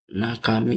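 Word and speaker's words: 中身: Meskipun jarang muncul, tapi kalian harus ingat cara bacanya. Nak kami. Nakami itu isi.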